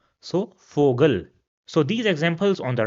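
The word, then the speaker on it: Vogel: Another example which we already saw during our alphabets was fogal which means bird. So you see over here again the sound of fo is the same as the sound of f. So fogal.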